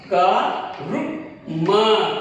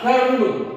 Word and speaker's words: कर्म: एक बात, स रु प सर्प, सर्प, देखिए, क रु म कर्म, कर्म, देखिए इसको क्या आदत है, रु, ऐसा साउंड आना है इसके अंदर, आधा रा को इस तरह पढ़ना है, रु का रु म कर्म।